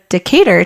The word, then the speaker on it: Decatur: it and I forgot so Decatur Texas like decade or better yeah okay so anyways